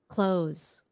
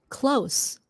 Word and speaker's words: close: close the door close close is a z sound at the end close and my mom and i are very close close that's an s sound close and close they